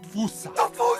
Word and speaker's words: fossa: Experts feel free to correct me, but apparently that is the closest to the OG Malagasy pronunciation. It's just that the global game of telephone has Americans saying Fossa, while England pronounces it as Fossa.